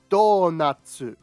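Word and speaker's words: ドーナツ: This is donatsu, or donuts. Donuts. And this word here is biru, or beer.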